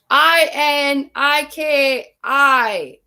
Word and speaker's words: Iniki: come you guys i n i k i but the holly spell it e e n e e k e e iniki hurricane iniki was really